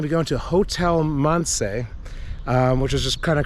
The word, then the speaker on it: Mance: I have 2 great-grandparents that were from Croatia, and my last name, Mance, is actually Croatian, and it's pronounced Mance.